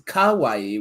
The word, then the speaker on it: kawaii: Oh my Because the word for cute is the same as the word for scary, except for one vowel. Oh, is it seriously? It is, because it's kawaii with an A after the K, or the kawaii. But depending on how you pronounce it, and for some reason I speak Japanese with the Brooklyn accent, it sounds about the same when I say it.